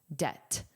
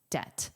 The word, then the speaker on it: debt: And notice the pronunciation. The B is silent. Debt. Debt.